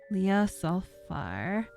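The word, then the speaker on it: Ljosalfar: one i'm assuming jay is pronounced as a y leah sulfar yes so far proud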